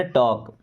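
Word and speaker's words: talk: चाहता टू टॉक देखिए यहां पे एल साइलेंट है ना टॉक I don't want to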